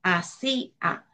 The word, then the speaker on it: hacía: Por ejemplo, en hacía tampoco hay diptongo. ¿Por qué? Porque separaríamos la la sílaba cia, ¿verdad? Va separada y sería ahí esa palabra hacía, estaría dividida en tres sílabas, hacía.